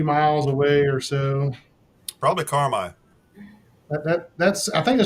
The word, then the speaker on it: Carmi: Probably Carmi. That That's I think it starts with a C, so that's probably it. Yeah, it's the last big town. Carmi. Carmine. It's pronounced Carmine.